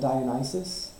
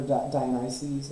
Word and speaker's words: Dionysus: an alternate for it Dionysus I believe is how you say it or Dionysus or something so we're going to